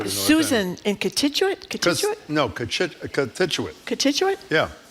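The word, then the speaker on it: Cochituate: Contituate.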